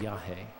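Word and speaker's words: yajé: form of Iawaska um is called Yahi, which is spelled Y A J E with an accent over the E. Yah.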